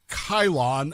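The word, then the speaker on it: Chilon: They know that this word Cylon, that we pronounce Cylon, is actually based on Chylon of Athens.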